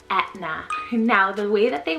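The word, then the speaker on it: Aithne: and to me it's very similar to the pronunciation of the italian volcano mount aetna so you can really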